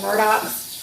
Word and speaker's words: Murdaugh: Or following any of the news of these, they call them the Murdochs. But they're not spelled the Murdochs, just by the way. It's spelled Murdaugh.